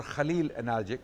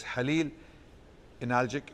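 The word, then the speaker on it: Halil İnalcık: His name was Halil Analgic, or Khalil Analgic, but Kha is not pronounced in Turkish, so it's Halil Analgic, and he lived up to 100 years from 1916 to 2016.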